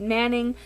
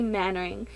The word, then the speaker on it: Mannering: book lover survey tag I said Manning but it's actually mannering she is a YouTuber